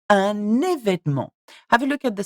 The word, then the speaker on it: événement: So you start événement, événement, événement, un événement.